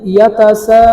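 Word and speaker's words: يتساءلون: তারপরে দেখতে পাচ্ছেন আই ইয়াতাসাআলুন, ইয়া জবর ইয়া, তা জবর তা, ইয়াতা, সিন আলিফ জবর সা, ইয়াতাসা, হামজা জবর আ, লাম ওয়াও পেশ লু, নুন জবর না, আলুনা, ইয়াতাসাআলুনা। ওয়াকফের কারণে কি হবে ইয়াতাসাআলুন।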